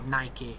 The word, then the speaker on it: Nike: as a pair of Nike trainers do, or Nike if you're American. Which I've never understood, because there's no accent above the E, so why the fuck would we pronounce it like that?